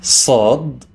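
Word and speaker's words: ص: This is Sad, pronounced as an S coming from the deep in the throat.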